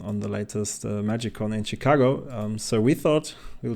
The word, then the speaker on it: Chicago: chicag what's see like how do you say it Chicago a or Chicago oh so um I'm uh I played in Chicago I guess it's more like a sha sound but I'm actually from